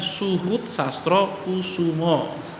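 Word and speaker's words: Soehoed Sastrokoesoemo: Jadi bacanya Suhut Sastro Kusumo ya. Nama dia masih ejaan lama ya, Soe ya, Soe Oe dibaca U ya.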